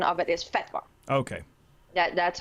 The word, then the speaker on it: fatwa: so okay but well the correct Arabic uh pronunciation of it is fatwa okay that that's how they say it but